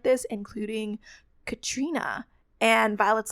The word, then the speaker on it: Catriona: it I would always I would always say like katriona and then I was like oh wait it's Katrina it's like all the